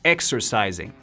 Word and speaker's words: exercising: I also enjoy exercising. También me gusta entrenar. Se pronuncia exercising. Todos los sonidos de la S en esta palabra se pronuncia S, menos la última. Zing, con Z.